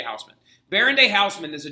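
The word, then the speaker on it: Haussmann: along named baron george i can't say his name in german baron de houseman okay everybody calls him baron day houseman baron day houseman is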